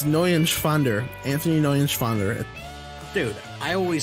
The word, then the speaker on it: Neuenschwander: Anthony Nunschwander. You didn't pronounce it right. That's up. Anthony. Anthony Nunschwander. It's N-E-U-E-N. It's Neuenschwander.